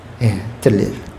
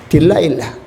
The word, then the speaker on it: 들릴라: 탐 존슨이라고 하는 사람이 딜라일라, 유명하죠. 우리나라 이 나훈아나 남지시 같은 그런 놀라운 인기를 그 곡을 통해서 얻게 돼요. 딜라일라라고 하는 것은 영어식의 발음이에요.